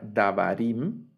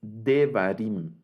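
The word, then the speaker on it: דברים: Por eso, el plural de davar ya no sería davarim, sino que es devarim. Y aquí la kametz se redujo a un sheva.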